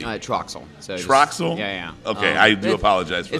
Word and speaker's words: Troxell: do apologize for that it's like most people pronounce it like they TRW or you know TRX or trox l or something like that I'm like no just Troxel just Troxel just Troxel all right